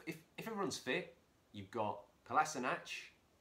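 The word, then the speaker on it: Kolašinac: everyone's fit you've got class a notch that's the correct pronunciation by the way classy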